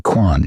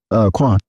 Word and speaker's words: Quan: Rich homie Quan. Yes. Okay. Can we just call him Rich? Uhwan. Okay. Quan. Yeah. Yeah. Both one syllables. Yeah. Can use either one of them.